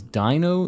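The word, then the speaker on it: Deino: Dino, Zweilis, and Hydreigon. This is counting in German. Ein, zwei, drei. Like 1, 2, 3. And that's like how many heads they have.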